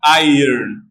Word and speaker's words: iron: pronounced I I IR I earn it is pronounced like this like we say I earn iron and also in the